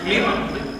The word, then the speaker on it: Mývatn: Is it my pronunciation? No, it's not almost perfect. They're from the Mývatn region. Okay. Mývatn.